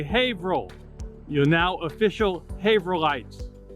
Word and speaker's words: Haverhill: printing in Haverhill Massachusetts it's spelled Haverhill but pronounced Haverhill everybody say Haverhill You're Now official Haver lights handset type was